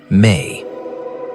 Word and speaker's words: me: They speak of the me, pronounced may, which were small, portable objects that held the information of civilization, codes for law, for music, for warfare.